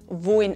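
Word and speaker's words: wollen: We pronounce it like "woin". Something special happens here in our dialect, namely we vocalize the "l".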